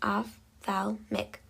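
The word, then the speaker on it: ophthalmic: The fourth term is athalamic pronounced athalmic. This is built from athalamo meaning i and iick meaning pertaining to.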